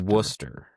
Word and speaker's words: Worcester: So, it's Worcester. So, don't don't call it Worster if you're up there. They'll they'll know immediately you're not you're not from the area. So, Worcester.